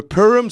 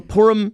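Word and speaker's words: Purim: is is um the pum superhero I'm not pronouncing that correctly because I I know it's your people pum as in the Jewish holiday I'm sorry it's called the porum superhero superhero right and they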